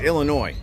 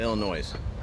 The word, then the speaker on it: Illinois: don't know why but i'm one of them fools that put an s on it it's illinois and i call it illinois i'm sorry look at